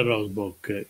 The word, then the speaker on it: Rosboch: greco dottoressa la professoressa Gloria rosbotch sì che si pronuncia così Gloria rosboch che è scomparsa la